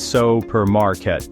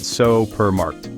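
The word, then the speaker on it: supermarkt: the supermarket in Dutch notice the pronunciation of supermarked it's not so per Market but so per marked with the emphasis on the marked practice saying it a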